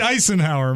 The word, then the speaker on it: Eisenhower: It's Dwight Eisenhower, Mike. Okay. You mean that's the performer? Yeah, but it's spelled ice like in a drink.